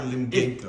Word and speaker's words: Limgenco: Is it Limgenco? Yeah, nobody... So it's not Genko. Yeah. I'm sorry. I was always like, oh, his name is Paul yeah. Limgenco.